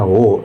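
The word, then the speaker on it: を: ada kata benda partikel O ya. Ini W dalam hiragana wo tapi dibaca O teman-teman ya. Kalau buat partikel dibacanya O kata benda, O kata kerja, kata kerja transitif.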